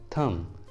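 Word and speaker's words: thumb: थम, थम, इस वाले इंग्लिश वर्ड के लास्ट में भी बी है और बी के जस्ट पहले एम है तो बी को प्रोनाउंस नहीं करेंगे, इसलिए प्रोनाउंसिएशन होगा थम।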